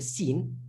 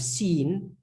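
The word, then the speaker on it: سين: letter looks the little scene one without the dots the name is seen that's literally the name like when you say i've seen that's exactly how the letter's name is pronounced scene and obviously we look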